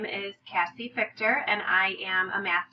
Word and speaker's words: Fichter: Fichter. The CH is pronounced more like a K.